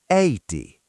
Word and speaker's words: Äiti: Think of the word "Apple" or "Cat." It’s that wide sound. The word for "mother" is Äiti. Sarah, try Äiti. Sarah: AY-iti. Teacher: No, remember—it’s not "ay" like a name. It’s like "Apple."